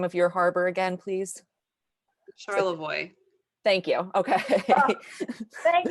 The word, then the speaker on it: Charlevoix: Charlevoix.